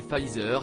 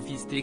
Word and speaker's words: Pfizer: En effet, celui-ci est nommé Pfizer et non fisté comme a pu l'indiquer le maire de Perpignan.